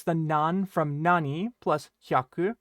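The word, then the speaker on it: 百: about hyaku is that hyaku will change its pronunciation based on the number of hundreds that you have, right? So based on the number that comes before it, the pronunciation for hyaku is going to change just a little bit, right?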